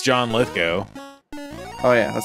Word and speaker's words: Lithgow: I thought I've heard him say it once, and he said Lithgow, and I was like, oh, whoa, I would have said Lithgow. That's how you say it.